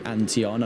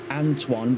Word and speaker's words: Antoine: And yes, I am aware of the fact that it's not actually Anteon. And I've been using the Xbox 360 rules of replacing vowels with numbers. I know that it's supposed to be pronounced Antoine, but then let me riddle you this.